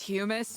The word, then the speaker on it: hummus: Oh, if you want to be pedantic about it, it is pronounced humus, but no one wants to say it like that.